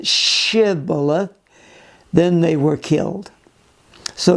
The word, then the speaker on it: shibboleth: right say shibboleth and since the people of ephraim could not pronounce it properly they said sybilla rather than shibboleth then they were killed